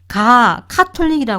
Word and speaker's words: 카톨릭: 유럽에서 있면 유럽 가톨릭교 지금은 한국에서는 가톨릭 교라고 이상한 발음이 되는데요 가톨릭 카톨릭이 해야지 맞는 말인데 또 이상하게 가톨릭이라는 상태에서